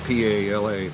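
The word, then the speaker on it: Phala: And so there's sub-districts within the cities here in Thailand, and our district is called Pala. So that's P-H-A-L-A, but the H is silent. So you just think P-A-L-A, Pala.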